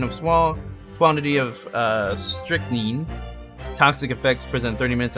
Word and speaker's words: strychnine: pronounce it that's what richard said uh it's pronounced strychnine oh thank you richard 30 minutes is